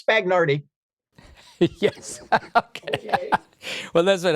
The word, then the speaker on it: Spagnardi: Spagnardi. I thought I was being polite in pronouncing his name correctly. And he looked at me and said, it's Spagnardi.